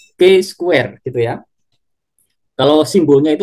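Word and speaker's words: chi: Jadi nanti untuk kasus ini kita akan analisis menggunakan uji C square ya atau ini biasanya cara membacanya K squ gitu ya.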